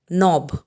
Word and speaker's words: knob: The next word is knob. Here again, we don't pronounce K.